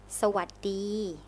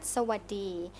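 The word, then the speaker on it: สวัสดี: So hello in Thai is Sawadee. Sawadee. Sawadee. Oh, I feel like I said it wrong already. Sawadee. Not bad, not bad. Sawadee.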